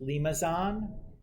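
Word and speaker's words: limaçon: curves so that's pronounced limazon that's the weird c with the comma attached to it i don't know what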